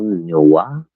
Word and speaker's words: noir: Cheval Noir? Cheval Noir. Okay. He wasn't afraid to show some nip, which, it's always obscured a little bit. Pronounced the R. I think it's Noir, not Noir.